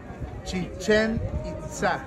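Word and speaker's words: Chichén Itzá: Listen, the name has accent. Chichen Itza.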